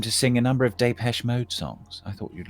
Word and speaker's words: Depeche Mode: love that um that band oh you mean depeche mode right sorry i'm pronouncing it wrongly of course yeah um anyway